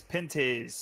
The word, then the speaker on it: Pinty's: I tell you how you pronounce that sponsor. It's Pinty's.